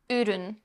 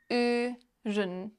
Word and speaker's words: Ürün: Ürün. Product. Ürün. Keep that position of your mouth and only move your tongue back. Can you switch back and forth between these two sounds? Like this? Ürün.